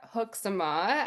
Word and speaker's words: Hoekzema: I am here with Hooksama. I always want to like slaughter your name, but I'm glad that I pronounced it right correctly.